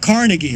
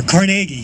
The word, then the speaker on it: Carnegie: Also also the library was founded by a grant from the great industrialist uh Andrew Carnegie or Carnegie. Some people pronounce his name either way.